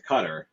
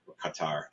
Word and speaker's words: Qatar: when they got to cutar Qatar I always say it wrong I I'm from I get to say it you can say it whichever way people intelligent people say it both ways so I just do